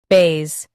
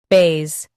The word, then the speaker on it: bass: Today, we will learn how to pronounce the word shown on the screen. base Both US and UK have the same pronunciation of this word. base Now read the syllables shown on the screen naturally.